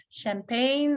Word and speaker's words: champagne: The waiter served champagne. So we did cover CH combination, звукосочетание CH, французское слово, поэтому нестандартное произношение champagne, опять-таки особенности исторические, поэтому произношение и заимствование, конечно же, поэтому произношение совсем нестандартное, но я думаю, вы справились.